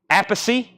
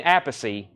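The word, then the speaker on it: Appice: stock 33.99 here's Carmen apacy so just for clarification it's Carmine apacy and Vinnie a piece is that what we're is that what we're saying I know this is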